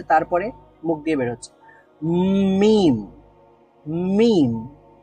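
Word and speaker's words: ميم: করি তাহলে উচ্চারিত হবে মুম প্রথমে ন মানে নাক দিয়ে বের হচ্ছে তারপরে মুখ দিয়ে বের হচ্ছে মিম মিম ম সাউন্ড মিম তাহলে দুই ঠোঁট থেকে উচ্চারিত হয় মিম এবং আরো একটা হরফ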